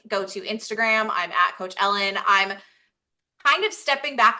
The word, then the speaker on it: Ellyn: oh so I'm coach Ellen everywhere um note that my first name is spelled weird so it's e l l y n but I'm coach Ellen everywhere like if you want